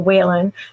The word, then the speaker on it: Wehlann: Also, my author name Whan, which is spelled a little bit funny for people. It's pronounced Whan like Jennings, but it's spelled we l a n.